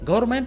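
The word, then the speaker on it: government: जो कि गलत है गवर्नमेंट तीन सिलेबल से मिलकर बना है इसका सही प्रशिक्षणों तब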